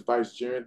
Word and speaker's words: vicegerent: is a vice jiren not a vice the word is vice jiren let me see if